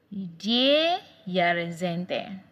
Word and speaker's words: die Jahreszeiten: We have 4 seasons in the year, and in German language, seasons is pronounced as die Jahreszeiten.